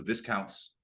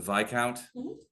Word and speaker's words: viscount: you got was the Viscounts signate ring. What is it? Which the vic count? I love having the grammar police is pronounced viscount.